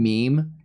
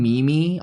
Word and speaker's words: meme: When you first saw the term meme, did you pronounce it Mimi too? Because I remember when I first saw the term meme, I called a meme Mimi. I'm not kidding you, for